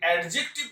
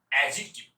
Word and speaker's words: adjective: যদি অ্যাডজেক্টিভ বলেছেন তাহলে কিন্তু ভুল, ঠিক উচ্চারণ কি? অ্যাডজেক্টিভ। অ্যাডজেক্টিভ, এই এ ডি জে থাকলে এই ডিটার উচ্চারণ হবে না, এটাকে সাইলেন্ট করে দিন।